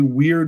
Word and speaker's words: Wyrd: So, first off, it is a weird west story. So, what is Weird West? It's spelled W Y RD if you're listening only.